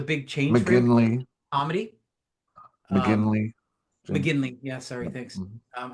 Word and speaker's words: McGinley: McGinnis, which was a big change for him. Comedy. McGinley.